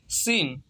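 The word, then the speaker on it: scene: सीन, सीन mean मंजर, SENE, सीन। सीन mean यहाँ पे क्या है, सी जो है साइलेंट है।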